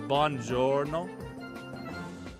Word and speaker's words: buongiorno: Yeah, it's buongiorno. Buongiorno. Okay. Neho. Ni hao. Neho. So what's the difference between bonjour and buongiorno?